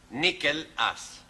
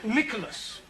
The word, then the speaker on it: Nicholas: Once upon a time, there was a man called Nickel Ass. It's not quite right. No? Once upon a time, there was a woman called Nickel Ass. It's pronounced Nicholas.